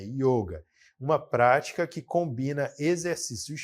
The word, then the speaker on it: yoga: A gente pronuncia dessa maneira, yoga, não yoga, é yoga.